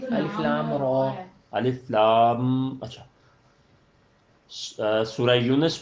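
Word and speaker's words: الر: الف لام میم را. نہیں الف لام را.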